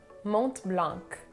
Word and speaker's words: Mont Blanc: chopard now we have mont blanc it is a german brand but it has a french name so the last letters of the two words should be silent so you would pronounce it now next we have